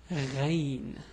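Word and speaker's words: غين: Anyway, so the name of this letter is Ghayn. Yeah, it's a bit hard also to pronounce. The way the pronunciation is gh. Maybe it's similar to the French R somehow, but anyway, it's gh.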